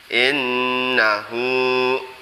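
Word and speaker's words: إنه: Kemudian innahu, ini seperti tadi, nunnya bacaan huna harus berdengung 2 harokat.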